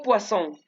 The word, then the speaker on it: poisson: Si yo digo poisson, como tiene doble S, ese se pronuncia como si fuera una S normal.